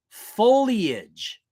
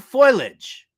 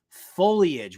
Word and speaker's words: foliage: just pick a name already number four it's pronounced foliage not foliage I don't know who the hell is saying foliage out there but it's pronounced foliage we aren't wrapping up leftovers from this farewell